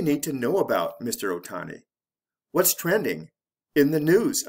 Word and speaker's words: Ohtani: is who what how shohei ohtani or in japanese ootani a famous baseball player